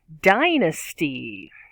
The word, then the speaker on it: dynasty: and dead number three dynasty dynasty three syllables di nasty and there's that schwag and that upside down e stress on the first third die misty dynasty is a thing